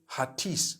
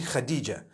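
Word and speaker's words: Hatice: across the name Khadija in Turkish some people spell it h a t i c e I would say hatis for that no it's actually Khadijah in Turkish that's the way they write it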